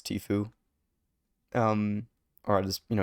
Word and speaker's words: Tfue: yeah, it's Tfue. Um or I just it's basically this something like when you spit through your teeth like Tfue.